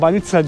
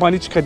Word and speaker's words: banitsa: Dedim abi gelmişken baniçka diye, banitsa diyorlar. Burada ama halk dilinde baniçka diye söylüyorlar. Yanlış telaffuz etmediyse abi.